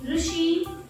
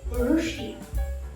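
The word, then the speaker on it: ఋషి: RU is somewhat similar, though not same, it is somewhat similar to rolling R sound.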